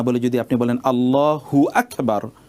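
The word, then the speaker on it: الله أكبر: দেখুন মূল উচ্চারণটা হবে আল্লাহু আকবার আল্লাহু একটি শব্দ আকবার একটি শব্দ এখন আপনি আল্লাহু আকবার না বলে যদি আপনি বলেন আল্লাহু আকবার হু আকবার যদি আপনি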